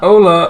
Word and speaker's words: hola: was joking hold up Ola Ola H is silent okay is Pico he's